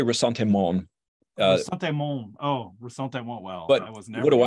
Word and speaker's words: ressentiment: if I mispronounce it resentment is that the right way of pronouncing that word I think they say rasante mon uh oh well what